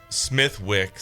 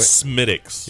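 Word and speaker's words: Smithwick's: You said it wrong. Yeah. What are you talking about? By the way, wait. Smittix.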